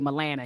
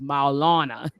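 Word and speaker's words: Maulana: sorry I always butchered I always say Milana he says no is Malana and so my Alana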